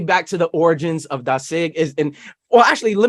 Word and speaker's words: Dasig: asking definitely definitely and is it dasig is that how we pronounce this as well yeah there's again it depends on the the region you're from but you know dasig is is how I hear it um there there